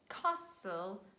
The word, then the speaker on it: castle: after me passing moisten also in this combination s-t-l-e you say whistle castle and i would like